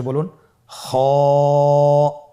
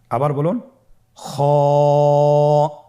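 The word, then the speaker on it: خاء: খ হরফটি হলো মোটা হরফ, উচ্চারণের ক্ষেত্রে মোটা হবে।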